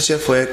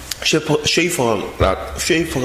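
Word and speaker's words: Schaeffer: 이 프란시스 셰퍼의 그러면 우리는 어떻게 살 것인가, 아주 유명한 책이 있어요. 쉐이퍼가 원래 발음이에요.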